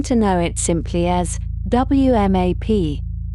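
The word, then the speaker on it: WMAP: know it simply as WAP, pronounced as a single word, spoken softly in the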